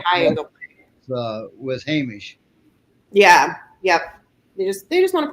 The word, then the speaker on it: Hamish: That's for Ladybug and Aquilla Hamish. How do you pronounce that? You gave it to him. Hamish.